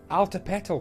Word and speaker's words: Altepetl: he said hey you should name the city alta petal pronounced alta petal it's azdek for water mountain so